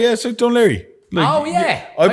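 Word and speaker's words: Dún Laoghaire: O'Leary, yeah, so Dunleary. Oh, yeah. I I'm pronounce from it Dunleary, so- O'Leary.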